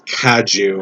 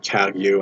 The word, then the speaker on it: Kagyu: My understanding is that it's Kaju and not Kagyu, and I think very few people would know that unless you're in a Kaju Buddhist.